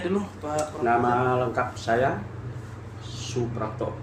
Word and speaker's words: Suprapto: Nama lengkap saya Suprapto. Jadi ejaan lama SOE jadi Soe. Soe Karno. Nah, Soe jadi Soe Prapto, kan OE jadi U kan.